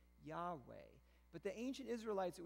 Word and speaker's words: Yahweh: that's related to i am usually it is pronounced yahweh but the ancient israelites it was so sacred